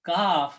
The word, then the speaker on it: kaf: This is qaf, which come out from the throat, qaf, and kaf, which come out from the front of the mouth.